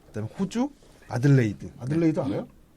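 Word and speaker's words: Adelaide: 그 유사한 발음은 들어본 것 같은데 아, 아마 그 요럴레이? 발음이 아니지 요럴레이? 않을까요? 그 발음이 아니지 않을까요? 아무튼 네. 아니 이거 내가 네. 나도 이상해서 네. 구글 네. 번역기에다 넣고서 음성으로 돌려봤어. 아들레이드 맞아. 네.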